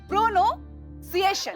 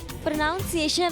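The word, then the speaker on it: pronunciation: English language में सबसे important चीज होती है प्रोनो सिएशन। रॉन्ग रॉन्ग टीचर तू रॉन्ग बोलता। अरे भाई क्या गलत बोला? प्रोनाउंसिएशन होता है। प्रोनंसिएशन नहीं होता।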